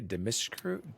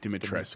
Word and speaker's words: Dimitrescu: Dimitrescu? Dimitrescu.